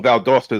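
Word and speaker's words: Valdosta: Vald Dosta. Like Vald Dosta, Georgia. Georgia. Val. I know. Vald Dosta is in Georgia.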